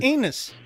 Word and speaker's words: Enos: That's not anus. That's not anus. Inus. That's right. No, Enos. Like, rhymes with penis.